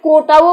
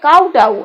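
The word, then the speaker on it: kowtow: সেটা তারপরে কাউটাউ দেখুন কাউটাও বলতে পারি কোটাও বলতে পারি এই দুটোই কিন্তু সঠিক কাউটাউ এই উপরের উচ্চারণটা হবে কাউটাউ আর নিচেরটা হচ্ছে কোটাও এটা হচ্ছে মাটিতে মাথা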